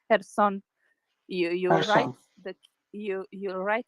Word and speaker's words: Kherson: It's Kherson. You write Kherson. you write the K, but you don't say the K. So it's Okay. Kherson as it is.